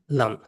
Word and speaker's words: London: The real pronunciation is London.